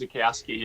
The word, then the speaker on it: Zukowski: And I apologize if I mispronounced your second name, Zukowski. Zukowski. Pronounced Zukowski, yeah. Good job. Zukowski.